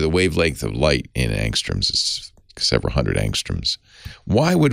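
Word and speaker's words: ångström: it's angstrom yeah angstrom a-n-g-s-t-r-o-m swedish word so the a has a little halo over it and the o has an umlaut so it's probably pronounced angstrom it's named after a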